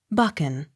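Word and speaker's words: Buchan: second syllable b-r-o-u-g-h-a-m broom b-u-c-h-a-n bucken accent on first syllable b u r d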